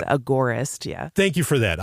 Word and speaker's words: agorist: some people say it agarist and it sounds like AG g e r i but it's Agora like the Agora the market you know it's agorist yeah thank you for